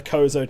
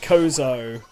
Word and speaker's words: Chozo: to be yeah i always pronounce it kozo i don't know if that is accurate maybe someone else can but i've always said kozo with the silent h that's just me though